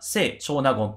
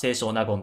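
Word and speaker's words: 清少納言: と思われますまあせプラス長な言なので正確には聖長な言という風に発音した方が正しいのかなと思うんですけどまこの動画では青書な言という風な発音のね仕方でやって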